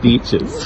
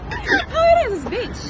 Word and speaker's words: beach: Okay, she said beaches. Beaches, sorry, it's beach. Beach. I don't know how to pronounce it. Bitch.